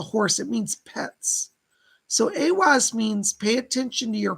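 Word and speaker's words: Ehwaz: It looks like a giant letter M, but it's pronounced AWAS.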